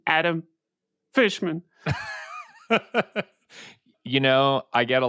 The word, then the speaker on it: Fishman: mispronunciations of my name despite the fact that it is two very straightforward words to pronounce fish and man sometimes I get fisherman sometimes I get fman Fisher I've gotten Fisher before yeah really all the